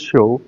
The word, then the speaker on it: Show: Hi, my name is Show. It's pronounced like a TV show, which is also my brand.